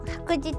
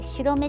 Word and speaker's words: 白日: ていてでずっとあの服実って読んでなくて白めっていうんですけども横ベルト